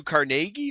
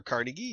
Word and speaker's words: Carnegie: Andrew Carnegie, or Carnegie, however you would like to pronounce it, I've heard it both ways, was the steel tycoon